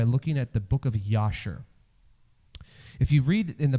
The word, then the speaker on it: Jasher: in the book of Yasher. Jasher, maybe it's spelled with a J, but the Hebrews would have pronounced it with a Y sound.